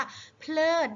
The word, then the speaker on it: เพลิด: เพลิน อะไร เนี่ย จาก ว่า เพลิด นะ คะ เพราะ ว่า มี รอ ลิง เป็น คำ ควบ กล้ำ ด้วย นะ คะ เพราะ ฉะนั้น เรา ก็ ต้อง ออก เสียง ให้ ชัด นะ คะ เลิก นะ คะ